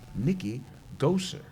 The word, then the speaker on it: Goeser: with us the author of stocked and defenseless Nikki goser did I pronounce it right yes you pronounced it correct